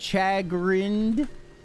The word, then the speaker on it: chagrined: Chagrined? Oh, it is the SH sound, so that's even better.